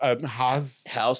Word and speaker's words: Haus: He is the owner and broker of Haus Realty. Haus. Just Haus.